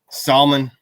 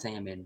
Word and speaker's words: salmon: and words are crap it's salmon buddy i know salmon salmon salmon you know it's like knife spell knife k and i that's canife why is the l in salmon when it doesn't mean nothing do you know how